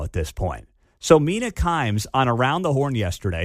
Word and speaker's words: Kimes: Mina Kimmes. Kimes. Thank you, Mark.